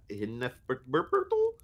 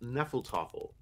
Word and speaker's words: Hinnefeltoffel: Hinnefertel? Eric tried his best to pronounce it, but was clearly struggling. "It's pronounced Nefeltoffel," Holly chuckled warmly, even though it's spelled Hinnefeltoffel. "The H is silent.